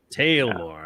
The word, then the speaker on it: Taelmoor: got so here it is here's kickstart uh tell more in kickstarter is it tell more tale more how do you pronounce it tale more tale more all right actually i like this way the